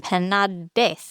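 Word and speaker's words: Penadés: So there's this guy named Professor Penades. You think I got that right, Liz? No, because there's an accent on the E, so it's Penades.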